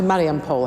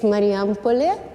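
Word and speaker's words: Marijampolė: I'm not quite sure why I've come to Mariampol. Have I pronounced that right? It's Mariampole.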